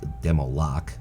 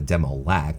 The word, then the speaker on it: demo lock: the demo lack and take demo lock would be the right way to say it not a demo lack unless it's a lackey you see see here's